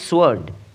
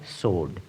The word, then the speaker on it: sword: অনেকেই এই শব্দটির উচ্চারণ করে সোয়ার্ড। যেটি ভুল উচ্চারণ। সঠিক উচ্চারণটি হবে সোড। এখানে ডাবলিউ নীরব বা সাইলেন্ট হবে।